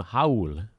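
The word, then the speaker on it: Raúl: in watching the broadcast they actually pronounce that first name Hauula the R is like an H it's a rule Neto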